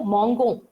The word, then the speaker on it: mangeons: Now, if you see this verb conjugation, je mange, tu manges, il mange, elle mange, nous mangeons. Here it is pronounced as nous mangeons.